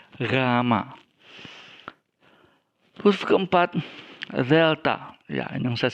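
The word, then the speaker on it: γάμμα: Okenya adalah huruf ketiga rama-rama bukan gama tapi ramma khusus keempat relta yang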